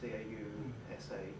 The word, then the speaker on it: causa: I would pronounce it aitia. Yeah. Which was translated into Latin as cause, and eventually causa, C-A-U-S-A, causa, is that right?